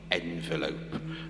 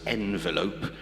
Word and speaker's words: envelope: Now I've I've come to learn to pronounce envelope instead of envelope which I would say um because uh well eight school ch eight schools of children have looked blankly at me when I've said envelope and then I just